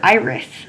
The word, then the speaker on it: iris: it is called your iris. Say it with me, please. Iris. Iris also has two syllables. Your first syllable is I. Your second syllable is ris.